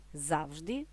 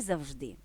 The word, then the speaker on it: завжди: і до 19 року словники реєструють його лише з наголошеним першим складом А ось далі прислівник подають із паралельним наголошуванням завжди і завжди І таке наголошування на думку мовознавців можливо з'явилося під впливом російського сігда так рядок багатьом відомої пісні Пусть всегда будть сонце перекладено українською мовою Хай завжди буде сонце де слово завжди має уже наголошений другий склад Отже знову оте так